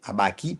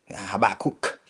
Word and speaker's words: Habakkuk: Habakkuk Pichon, okay, Habaki Pichon, Habaki Pichon. That's the way to say it properly, but in English, Habakkuk Pichon, okay.